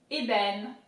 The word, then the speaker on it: ébène: Damier, ébène, damier, ébène.